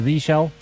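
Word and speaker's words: zsh: me your opinion on jush and if you don't pronounce it jush and call it the Z shell that I'm sure that they meant for it to be called jush I'm almost positive you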